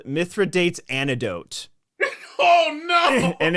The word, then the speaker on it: Mithridates: idiot there's literally an article in Wikipedia called Mithra dates antidote oh no and it's talking about it is pronounced mithridates by the way that is accurate and it's